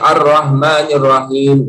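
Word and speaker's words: الرَّحْمٰنِ الرَّحِيمِ: Yang kedua, ba'fu hamsiha, lemahnya hams di dalam ya huruf ha itu. Ar-Rahmanir Rahim ya. Jadi bacanya Ar-Rahmanir Rahim. Nah, jadi kurang hamsnya.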